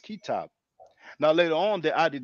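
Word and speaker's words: كتاب: they call it so it will be basically KTB but because they know it's their language they know it is pronounced kitab now later on they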